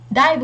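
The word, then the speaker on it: 大分: là chữ phân này, và thường chữ phân là mọi người hay đọc là bưng, nhưng mà đây chúng ta vẫn đọc là bư, daibu, cái đọc đặc biệt đấy, daibu jōzu ninatta, nên là câu số 4 không đúng.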